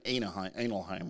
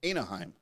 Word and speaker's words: Anaheim: in that wait are they here remember another analheim right yeah because it's so late yeah that's right I don't think that's the correct pronunciation of Anaheim Anaheim no Los Angeles anals of Angel Anaheim California